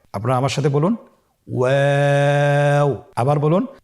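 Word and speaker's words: واو: আপনারা আমার সাথে বলুন ওয়াও ওয়াও। 2 ঠোঁট গোল করে মাঝখানে ফাঁক রেখে হরফটি উচ্চারণ করতে হবে। আপনারা আমার সাথে বলুন ওয়াও। আবার বলুন ওয়াও।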